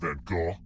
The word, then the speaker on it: van Gogh: Which famous painter was roommates with Vincent van Gogh? Yeah, that's how you pronounce his name.